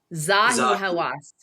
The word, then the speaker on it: Zahi Hawass: Zahi Hawas. Zahi Hawas.